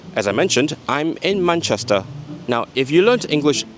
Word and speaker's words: Manchester: This vowel, man, is not easy to say for speakers of many languages, so it's quite often mapped to a more open vowel, Manchester, from Manchester to Manchester.